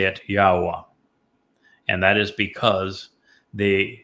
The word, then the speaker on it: Yahowah: And the verb haya explains how to pronounce the he and the yod.